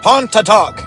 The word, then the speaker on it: Pontotoc: Pontotoc, guys, is how you say it.